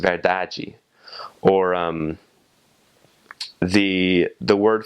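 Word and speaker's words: verdade: In Brazil in Portugal in Portuguese it's spelled the same but you have a e at the end right after the final d. So it's pronounced veraji or um the the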